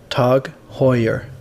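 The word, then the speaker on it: TAG Heuer: swipe at Apple before we start it is pronounced tug Hoyer here we go the rumors are now confirmed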